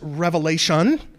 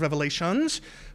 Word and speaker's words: Revelation: of the book is Revelation, singular, not plural. That's a little bit of a pet peeve of mine. It's okay if you're somebody that has been in the habit of pronouncing it the book of Revelations. Please don't do that in my presence.